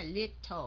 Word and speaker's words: little: buộc cái lưỡi của các anh chị phải cong lên đồng ý không nào tell me a little Mỹ họ đọc là họ đọc là không phải là Little mà là little about about your cái